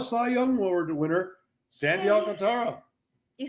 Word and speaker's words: Alcantara: It's the NL Cy Young Award winner, Sandy Alcantara. You said that last name so wrong. Sandy Alcantara.